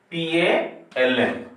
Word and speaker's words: palm: Here HIGH, ALMS, next RIGHT, PALM. So please pronounce this word high, HIGH. In this word, the silent words are GH. Arms, LE silent word. Right, GH silent word. And a palm, L silent word.